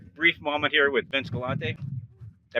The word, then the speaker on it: Galante: Hey guys, so we just had a brief moment here with Vince Galante. Did I pronounce that right?